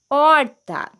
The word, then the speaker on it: horta: No início da palavra, a letra H vem sempre seguida de vogal e não é pronunciada porque não representa som algum. Olha só os exemplos que nós temos. A palavra história tem o sonzinho do I, hipopótamo também, hora tem sonzinho do O, horta também, herói, sonzinho do E,